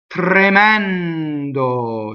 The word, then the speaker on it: tremendo: Tremendo. So, the E is open on the stress. The one on the not stress is closed, and also the O. Be careful with this word. The word tremendous has lost its original meaning in English.